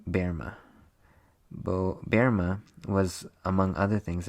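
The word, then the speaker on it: Böhme: She was a student of ancient mystical traditions and asked Case to comment on prophecies of 17th century German seer named Jacob Bohemie, pronounced Berma.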